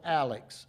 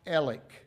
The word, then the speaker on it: Alex: Now, it's spelled Alex. A lex. It's pronounced ELC.